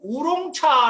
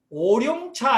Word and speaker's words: 오룡차: 다 이렇게 말하고 있는데요 한국분들이 이제 우유 우롱 차 라고 얘기하는데 발음이 흘렸습니다 울온 차가 아닙니다 이게 이제 한국은 너 나 울어 1 야 근데 중국말로 하면 오어 하셔야 되죠 그러니까 한국말로 하시려면 오룡차 해야 합니다 원래 이 차의 이름은